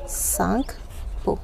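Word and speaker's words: Tsangpo: सांगपो, यहाँ पे T silent है।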